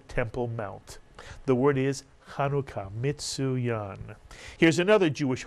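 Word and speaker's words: Hanukkah: beu the second syllable put the word together and you get the holiday kanuka two syllables and kanuka is the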